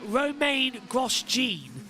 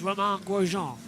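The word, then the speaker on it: Romain Grosjean: They called him uh what what do they call him? Uh Roma Gene. I was like, "No, it's Roman Gujon as up the inside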